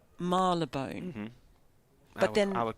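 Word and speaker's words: Marylebone: to get anyone to give me the definitive pronunciation Marone is it marab bone or maral laone because I've I asked people in that suburb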